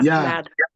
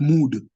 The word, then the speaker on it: mud: You will not say mood. You'll say mad, which means in pronunciation, you are replacing U with A. So it comes out being pronounced as A, mad, not mood.